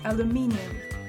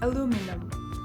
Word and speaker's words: aluminium: British English has 4 syllables with the emphasis on the third, so it's aluminium. For example, the cans are made of aluminium. American English has 3 syllables with the emphasis on the second, so it's aluminum.